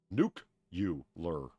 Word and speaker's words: nuclear: It's pronounced nuke-you-lur.